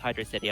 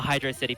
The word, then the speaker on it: Hydrocity: a good music and it is pronounced hydrocity I'm sorry everyone but I'm a Hydra City person oo so if all